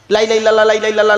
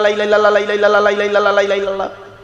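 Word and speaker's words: لا إله إلا الله: লা ইলাহা ইল্লাল্লাহর জায়গায় তাড়াহুড়ো করে কি বলি জানেন? লা ইলাহা ইল্লাল্লাহ। লাই্লাহ। লাই্লা ইল্লাল্লাহ।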